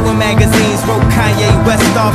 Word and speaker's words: Kanye: Now all I need is y'all to pronounce my name is Kanye, but some of my plastic still say Kane.